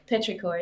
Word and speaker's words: Petrichor: Is how do you pronounce that name? Petrichor. Oh, Petrichor.